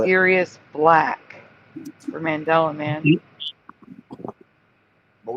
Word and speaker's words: Sirius: Cirrus versus Sirius. Yeah. It's Sirius.